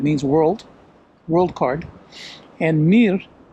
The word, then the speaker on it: Mir: Mir card and Mir mir's a a Russian word that means world world card and Mir as it's pronounced in Russian Mir uh is Russia's